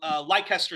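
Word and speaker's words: Leicester: actually had and this and this was for leester South leester yeah leester South yeah we pronounce a bit different strange English pronunciation the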